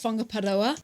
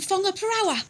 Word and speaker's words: Whangaparaoa: Especially, we always talk about the WH sound, the WH letters, making the f sound, which it's trust tricky.